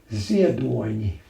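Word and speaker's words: Ziedoņi: The N is softened. Is there an accent on it? No, there's a comma under the N.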